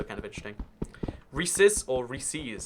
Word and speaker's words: Reese's: guy's a serial killer if you say Reese's pcs it's like rhyming is not more important than correctly pronouncing things so ya know i'm i i'm a Reese's it's Reese's it's Reese as in Reese's a nice guy he sells us peanut